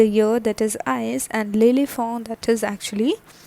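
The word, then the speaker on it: l'éléphant: a n t lily for what is the pronunciation that is lily form okay so this was a topic that is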